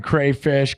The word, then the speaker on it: crawfish: It's crawfish is how it's spelled, but it's like people say crayfish.